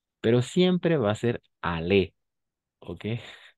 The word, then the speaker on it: aller: Pero siempre va a ser ale, ¿ok? O sea, al nivel de pronunciación va a ser siempre ale. Aller, d'accord?